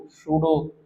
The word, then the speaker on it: pseudo: Noble gas configuration, सूडो का spelling क्या होगा? PSEUDO, सूडो।